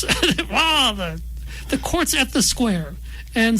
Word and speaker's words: Skuare: the courts at the square. And square is spelled s ku a r e. So if you hear me going squire, that's squar like like I'm a giant predatory bird.